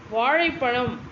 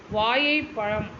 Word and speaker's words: வாழைப்பழம்: என்று உச்சரிப்பது பிழை அல்லவா வாழைப்பழம் என்பதனை வாழைப்பழம் அப்படின்றாங்க அல்லது ஒரு சிலர் பார்த்தீர்களானால் வாயை பழம் என்று சொல்றாங்க இவ்வாறெல்லாம் பேசும்போது தமிழ் வாழுமா